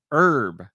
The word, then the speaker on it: herb: Uh, also, why don't you pronounce the H in herb?